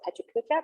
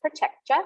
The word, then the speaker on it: PechaKucha: Some people call it Pechakucha, but it's pronounced Pachekcha, which means chit chat in Japanese.